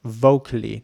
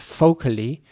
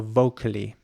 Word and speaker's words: vocally: especially spoken words and it's important to pronounce the V at the beginning um very soft vocally not vocally as some people might